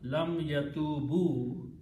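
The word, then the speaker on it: لم يتوبوا: It has to be pronounced together, lam yatubu, to bring the meaning of negative and the past tense.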